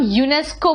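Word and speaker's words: UNESCO: article D late है लेकिन अगर हम एन ए टी ओ नहीं बोलते हैं हम ना तो बोलते हैं हम यूनेस्को बोलते हैं जब उसे शब्द की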